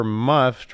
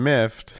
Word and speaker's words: miffed: IR revent as irrevelant said the French were muffed rather than miffed oh and called code